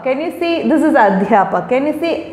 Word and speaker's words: अध्यापक: Notice the sound dh, adhyapak, adhyapika, vidyalay. So it is not the, you have to be very careful about how you pronounce it.